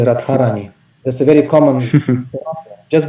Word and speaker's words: Radharani: That would definitely, or Shrimati, like Radharani, Radharani, and in the Russian language, Dha turns into Tha, and devotees say Radharani.